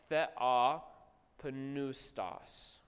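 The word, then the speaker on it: θεόπνευστος: Actually, you now know it's oo, right? Because epsilon, upsilon, is a diphthong, which you guys just learned, which says oo, right? Thea pneustos.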